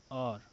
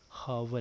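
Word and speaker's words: hour: है students odds में इसको हावर काफी लोग पढ़ते हैं लेकिन इट्स एन आर इट्स नॉट हावर ए यह आज साइलेंट है ओके चलिए ये किस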